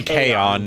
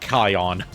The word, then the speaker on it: Kaon: Yeah, it's supposed to be Kaon, not Kion.